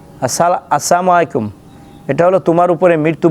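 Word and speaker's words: السلام عليكم: উচ্চারণ শুদ্ধ করতে গিয়ে আমরা কিভাবে সালাম দেই সালামু আলাইকুম বা সালামু আলাইকুম এই সালাম এটা রাসূল সাল্লাল্লাহু আলাইহি ওয়াসাল্লাম বলছেন এই সালাম দেওয়া এটা হলো অভিশপ্ত সালাম আসসালামু আলাইকুম এটা হলো তোমার উপরে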